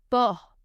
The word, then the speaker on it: porc: Du porc. Du porc. Pork. Again, letter C is silent.